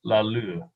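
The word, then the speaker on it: Laloux: the glow on my screen so it's frederick la lu i think l-a-l-o-u-x does pronounce that right sounds right but the english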